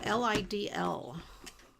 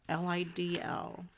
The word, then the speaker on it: Lidl: I've seen it on TV where it's pronounced Lidl. Okay, maybe Lidl. Yeah, that does sound like I bet it would be Lidl. And not little, because little would be small. I'm going to go to the little store.